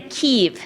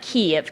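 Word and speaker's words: Kyiv: not the Ukraine and say ke and not Kev Kev is the Russian pronunciation so um but this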